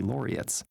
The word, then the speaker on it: laureates: About a third of Nobel Peace Prizes have been shared by two or three laureates. Laureates. That's how you say it.